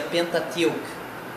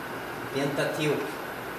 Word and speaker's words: Pentateuch: Continuando nossa aula de inglês bíblico, como eu estava falando sobre o Pentateuco, que no inglês se escreve assim e se pronuncia Pentateuch. Pentateuch.